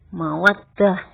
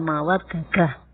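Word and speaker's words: مودة: Mawaddadatun. Yang kita banyak dengar itu mawaddah. Mawaddah bukan mawaddadah. Jadi dalnya itu adalah tidak dibuka, artinya harus diidghamkan. Bacanya ya harus diidghamkan.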